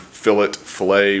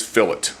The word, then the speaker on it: fillet: Going back to, did some research on the pronunciation of the word fillet, whatever, and it is fillet. I thought it was fillet.